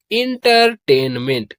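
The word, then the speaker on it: entertainment: तो प्रोनाउंस करेंगे इसको ENTER, इसे पढ़ते हैं इंटर। क्या पढ़ते हैं? इंटर। और TAN, इसे पढ़ते हैं टेन। क्या पढ़ते हैं? टेन। और MENT, इसे पढ़ते हैं मेंट। क्या पढ़ते हैं? मेंट। तो ये हो जाएगा इंटरटेनमेंट।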